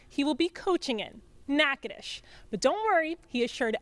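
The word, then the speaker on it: Natchitoches: of coach gibson's list was learning how to pronounce the name of the town he will be coaching in nakadish but don't worry he assured everyone that he's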